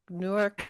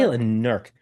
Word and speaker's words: Newark: Newark. How do people say a nerk? She grew up in Delaware, so it's Newark.